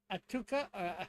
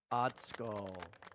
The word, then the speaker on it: Atsuko: Yes, it is Atuka. I said it wrong, I know. Atsuko.